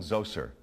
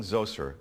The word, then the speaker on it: Zoser: This pyramid was for King Zoser, that's spelled Z-O-S-E-R, in about 2650 BCE.